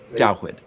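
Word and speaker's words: דוד: Dawid, which is the Hebrew pronunciation for the name we English speakers call David.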